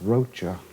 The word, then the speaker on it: Rocha: as i go along i don't know exactly how to pronounce her name rosha or roca i knew a guy named same name one time it was pronounced rocha all right say roaches